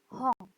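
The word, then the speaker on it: 本: Nah, tulisannya H-O-N. N di belakang dibacanya ang. Hong.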